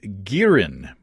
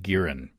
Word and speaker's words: Girin: I did some searching online to see if anybody's making Makgeolli commercially in the U.S., and I found Girin. I believe that's the way you pronounce it, G-I-R-I-N, a Korean steakhouse in Seattle.